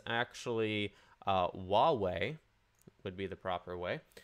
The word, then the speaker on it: Huawei: So I literally Googled how to pronounce this, and it's actually Huawei would be the proper way.